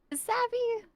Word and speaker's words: Savvy: Am I pronouncing it correctly? Is it Savvi or is it Savi? Savvy.